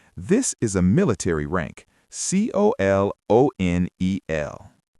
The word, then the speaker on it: colonel: It comes from French history. Just memorize it. Colonel.